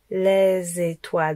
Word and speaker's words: les étoiles: Les étoiles. Donc le z, il va avec étoile.